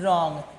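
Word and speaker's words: wrong: ओ एन जी रॉन्ग लेकिन spelling क्या है हमारा डब्ल्यू आर ओ एन जी रॉन्ग तो हम लोग डब्ल्यू क्या करते हैं साइलेंट कर देते हैं वो क्यों साइलेंट करते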